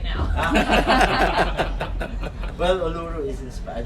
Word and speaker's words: Uluru: I don't know how to pronounce Uluru or Uluru. Uluru. Uluru. Uluru. Yeah, Uluru. but is that the right way to pronounce it? Uluru. How we pronounce it. Actually, it's different way of put people from Australia.